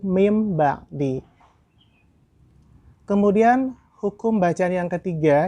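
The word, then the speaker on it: مِنْ بَعْدِ: Maka tidak dibaca dengan min ba'di, tetapi mim ba'di.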